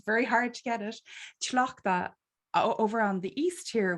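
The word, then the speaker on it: Tlachtga: I have to pronounce her name properly because it's very hard to get it. Tlachtka.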